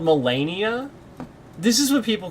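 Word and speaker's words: Malenia: So, is her name do we it like is she actually called Mellennia? This is what people call her. Mellennia. If I pronounce her name phonetically, it's Millennia. It's just spelled differently.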